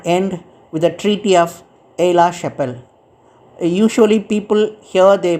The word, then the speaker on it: Aix-la-Chapelle: came to an end with the Treaty of Aix-la-Chapelle. Usually people here they pronounce it's a Aix-la-Chapelle, but it is X is a silence in French. It's the name actually called Aix-la-Chapelle Treaty.